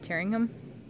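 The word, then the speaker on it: Tyringham: a campsite just past hearing him massachusetts i think that's how you say it correctly at t-y-r-i-n-g-h-a-m tearing him anyway it's a really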